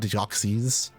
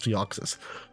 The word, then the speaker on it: Deoxys: Apparently, people call it Deoxys. Why? I don't Why? Why? Why would it be pronounced Deoxys? No, it's Deoxys.